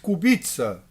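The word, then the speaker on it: Kubica: o carro amarelo venceu com o polonês Robert Cubitza, como é a pronúncia na Polônia, com Phil Hanson da Inglaterra e Iei i da China.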